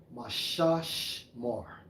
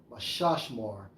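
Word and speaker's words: מִשְׁמָר: Guard, Strong's H4929, pronounced as Mashashmar. Yeah. Mashashmar.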